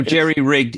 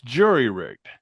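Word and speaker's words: jury-rigged: that has been disabled lost overboard Etc so Jerry rigged is an acceptable pronunciation well it's the it's jury rigged yeah but people get it it's kind of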